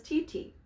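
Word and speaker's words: ti-ti: kadali music syllables so each one is pronounced as titi so it's titi titi titi titi so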